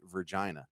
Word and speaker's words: Virgina: name of the restaurant v-e-r-g-i-n-a is not Regina it's very clearly Virgina thank you very much